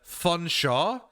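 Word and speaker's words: Featherstonehaugh: You have to change the name, change the spelling of these things to Chamli, uh, Funshaw, and Wooler.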